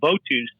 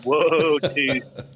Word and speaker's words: votus: this came up, and we had the song Votus, and we pronounced it that way. And he's like, this would really be Wotus.